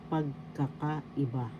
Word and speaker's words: pagkakaiba: be differences in Tagalog, pagkakaiba. Differences, pagkakaiba. First syllable, pag. Second syllable, ka. Third syllable, ka. Fourth syllable, i. And fifth syllable, ba. Pagkakaiba. Pagkakaiba. The first syllable has the accent.